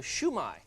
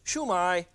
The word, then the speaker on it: shumai: and it's called a shumai shumai shu dash mei shumai and it's pronounced downhill chinese always goes downhill so it's not shumai and it's not shuma it's chumai chumai when you go